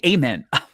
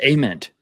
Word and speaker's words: Ament: Which, by the way, we've been saying his his name wrong. Uh, it's Ament.